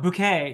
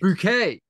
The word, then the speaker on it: Bouquet: Oh, no, Bouquet. Excuse me. Bouquet. And her surname is spelled Bucket. Bucket. But because she has delusions of a higher social status, she insists on being called Bouquet.